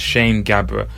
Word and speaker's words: Sham Gabr: the open mikes because his name is spelt SH a.m. I have been very guilty of introducing him as sham but as you heard yourselves it's pronounced Shane Gabbar he's a fantastic performer